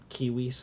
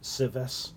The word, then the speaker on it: civis: All C's are hard C's. So it sounds like a K sound, and then all all V's have W sounds. So kiwis instead of civis, right?